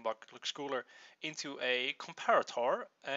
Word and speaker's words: comparator: mispronouncing it um but I looked it up and apparently it's comparator so I'll be announce